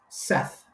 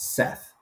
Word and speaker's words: saith: And similarly, S-A-I-T-H is pronounced just like said. It's Seth.